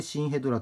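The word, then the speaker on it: 真ヘドラ: こちらはですね新ヘドラまのヘドラと書いてシヘドラと読むんですけど ymsf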